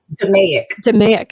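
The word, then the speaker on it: DMAIC: um yeah and d how do you pronounce the second one you say d'amic thank you demig um uh 12 votes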